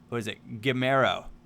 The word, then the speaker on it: Gamero: One of those things that are good is we sold, Gamero. I got it right. I know I butchered the pronunciation before, but we nailed it this time, so hopefully that's, or at least I think I did.